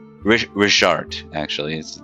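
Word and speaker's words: Rhisiart: don't ask about his brother 861 he doesn't like to talk about it uh rizard is his name r-h-i-s-i-a-r-t but it's got a pronunciation richard actually is his name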